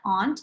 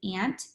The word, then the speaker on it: aunt: Some of you might pronounce it aunt, and that's okay, but a lot of people might say ant. if they're referring to their aunt and their family, okay?